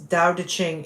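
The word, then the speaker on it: Tao Te Ching: the Dao de Ching it's Dao de Ching is uh the Dao is t-a-o d e um c-h-i-n-g yeah that's how you spell it yeah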